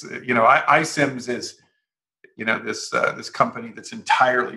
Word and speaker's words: iCIMS: as, or abbreviated, well, it's pronounced iCIMS, let's say, but it's ICIMS.